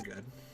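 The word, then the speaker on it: ご: I think we're good. Now, let's hear go. Practice writing ge in your notebook now. Go. And this is go. The pronunciation is go, as a go homa.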